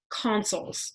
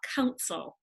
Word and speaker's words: consul: there were also two consuls so this word if you look at the slide is spelled Co n sul it's not council its consul and we don't have